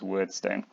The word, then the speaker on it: Wyrdstone: I'm pronouncing it word light. It might be weird light. I'm going word because of more time, and they officially pronounce Weirdstone as Wordstone.